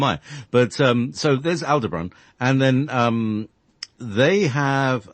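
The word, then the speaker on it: Aldebaran: don't emphasize the so you don't emphasize Al you emphasize the debron so to me that's how you'd pronounce it but I don't know who am I but um so there's Al debron and then um they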